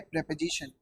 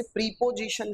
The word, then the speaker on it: प्रेपोजिशन: कौन सा टॉपिक है, प्रेपोजिशन। अच्छा देखिए बच्चे इसे प्रीपोजिशन कहते हैं, this is नॉट प्रीपोजिशन, this is प्रेपोजिशन। अच्छा जैसे आप प्रेपरेशन कर